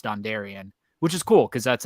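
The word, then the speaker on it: Dondarrion: name right right out the gate and it's dondarian which is cool because that's another you know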